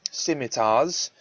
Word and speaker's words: scimitar: your crew brandish their scimitars yeah that's actually pronounced scimitar um yeah but your